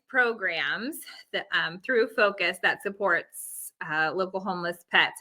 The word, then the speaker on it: FOCUS: We just pronounced the acronym FOCUS, but yes. Yes, that's FOCUS.